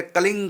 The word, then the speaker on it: क्लीं: यदि हम जोड़ के बोलेंगे कृष्ण को कलीम से, तो बोलेंगे कलिंग कृष्णाय नमः। अभी होठ बंद नहीं होंगे कलीम में, जैसे कलीम में होठ बंद अब नहीं होंगे, अब होगा कलिंग कृष्णाय नमः, क्योंकि हमने अंग की